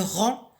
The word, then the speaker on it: rang: Le rang, j'entoure la lettre G qui ne se prononce pas.